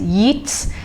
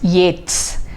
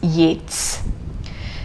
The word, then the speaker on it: Yeats: some of you have been reading this as eats just like you would read k-e-a-t-s-s keats but then you should remember that this word is pronounced not as yet it is yates and often this my students when i value